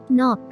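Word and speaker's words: knock: Silent letter কে। নক, নক, টক টক শব্দ করা, ঘা মারা।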